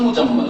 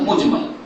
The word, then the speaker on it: মুজমাল: শিক্ষা শিক্ষার যোগ্যতা ঐরকমই সে যেন ভুল পড়িয়েছে মুফাসসাল মুজাম্মল আসলে মুফাসসাল মুজমাল এর মানে কি মুফাসসাল